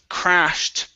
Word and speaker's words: crashed: Okay, let's go to crashed. Make sure to pronounce that T sound here.